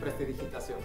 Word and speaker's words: prestidigitación: Prestigitación? How do you say it? Prestidigitación.